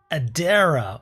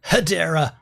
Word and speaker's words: Hedera: be looking at hbar Adera or hadera hbar if you're Australian we pronounce the h in h America doesn't they ignore it just like they do in the word herb there's a h at